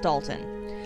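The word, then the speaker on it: Dolton: because there's an o there but apparently it's pronounced dalton this town of 23 000 seems like a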